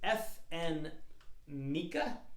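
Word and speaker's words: FN Meka: right um the the name of the wrapper is f n mika but it's not spelled like mecca the holy city but f and mecca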